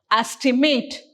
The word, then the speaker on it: estimate: as we pronounce this we stress here estimate and when it comes